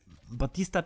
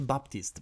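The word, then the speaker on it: Baptiste: No właśnie, ja na początku myślałem, że tego Batista czyta się Baptist bardziej. Ale słyszałem nawet w Overwatch League, że mówią Batist, także chyba Chyba będę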